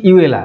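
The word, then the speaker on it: Iweala: নগজি ওকনজো হ্যাঁ কি ইউএলা ঠিক আছে চলো আমার মত আমাদের মতন ইন্ডিয়ান মতন উচ্চারণ করব ইয়েলা কারণ দেখো ওরা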